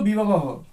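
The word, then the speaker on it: বিভবঃ: পড়বে, পড়ার সময় তখন সেটাকে বিসর্গ উচ্চারণ করে পড়বে, অর্থাৎ বি ভবহ। এখানে সন্ধি নিয়মে ওকার রয়েছে,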